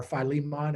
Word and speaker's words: Philemon: book in the bible called philemon or philemon as father virtue would pronounce it philemon's problem in that